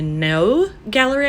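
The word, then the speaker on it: Neue Galerie: And then I'm going to the No Gallery, I think is how you say it. I was saying it new, and then I watched a video about them and I was pronouncing it wrong. Apparently that's not the right way.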